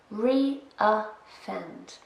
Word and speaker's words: reoffend: Reoffend. 3 syllables, and we stress the first one.